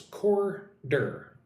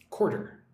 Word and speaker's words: quarter: Pronounce it like with two syllables, quarter, quarter, 1/4 of something.